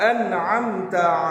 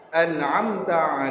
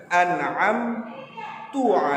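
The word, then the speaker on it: أَنْعَمْتَ: sirotol ladzina an'amta alaihim sirotol ladzina an'amta alaihim namun anakku membacanya dengan an-na'aam tua alaihim ah ah ah ah ah Ya udah ntar tapi kalian bacanya ah ah tuh Oh iya dengan harokat dhommah ini kesalahan yang fatal kesalahan berikutnya adalah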